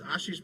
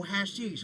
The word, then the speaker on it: Ashish: Uh because my name is Ashish. That's how you pronounce it. Ash. So all my life everyone's like, "Oh, hashish." I'm like, "There's no h in front of it, motherfucker." Turned into hash.